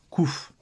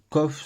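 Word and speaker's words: קוף: aussi écrit comme ceci mais en Israël maintenant la lettre se prononce kouf donc les deux ça va coffre c'est on va ça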